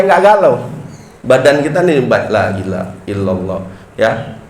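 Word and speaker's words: لا إله إلا الله: Jadi kita baca nih supaya enggak galau badan kita nih lailahaillallah ya. Bacanya lailaha boleh apaanya wakaf lailahaillallah atau di sambung lailahaillallah ya jangan laillah laallah loh enggak jelas itu ya jadi harus itu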